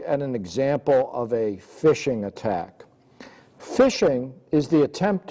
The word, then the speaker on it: phishing: Some of the names for social engineering attacks are phishing, pronounced phishing, pretexting, quid pro quo, which is the idea of you do something for me, I will do something for you.